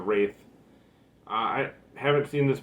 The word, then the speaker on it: Wraith: up we have uh the wrath or the wraith i believe it's pronounced the wraith uh i haven't seen